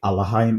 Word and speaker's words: Elohim: Elohim is the ancient pronunciation.